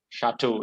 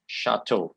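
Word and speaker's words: château: with the wine that is made there okay chateau is how you pronounce this word you break it up okay sha toh chateau you can pronounce that for this way okay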